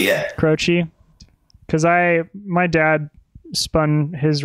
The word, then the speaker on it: Croce: Do you know how to pronounce that? Croce, yeah. Croce, because my dad spun his records for me